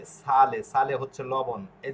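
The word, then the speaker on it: sale: যেরকম এই যে সালে, সালে হচ্ছে লবণ, এই যে সাপনে, সাপনে হচ্ছে সাবান। হ্যাঁ, তাহলে এস এ আ সা এলে এলে সালে, এস এ আ সা পি অ প এন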